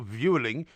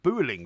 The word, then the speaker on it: Vueling: It's not Vueling, it's pronounced Booling with a B.